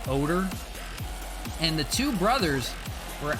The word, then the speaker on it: Odor: like ruget odor um but they always pronounced it odor and the two brothers